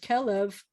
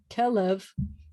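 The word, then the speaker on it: כלב: it's the same word the word kellev kellev is the same letters as kalev or caleb kalev which means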